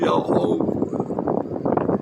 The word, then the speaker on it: Yahweh: pode fazer todas as coisas, meu Pai amado Yahweh. São 4 letras, Y-H-U-H. Essas 4 letras devem ser pronunciadas na transliteração, o qual a humanidade não